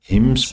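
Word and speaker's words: hymns: मतलब होता है भजन हिम्स बोलते इसको एन साइलेंट होता है फिलोसोफिकल राइटिंग फिलो फिलॉसोफी का मतलब होता है दर्शनशास्त्र।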